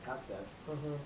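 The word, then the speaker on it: כסף: But what's interesting is when a person is reading from the Torah and says Yefet instead of Yafet, or Lechem instead of Lachem, Kesef instead of Kasef, they're not supposed to be stopped by the God, Correct.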